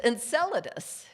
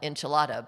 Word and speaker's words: Enceladus: do that now and it's enceladus is that moon although some of some people among us will pronounce it more things like enchilada but in any case